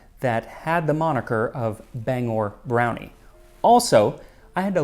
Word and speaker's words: Bangor: of song explaining that it is pronounced Bangor not Banger it's really really good